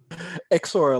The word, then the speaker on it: XORA: Larry Davis, I should say, is the founder of Exora. Exora, did I pronounce that right, Larry? XORA, like the letter X and then ORA, XORA.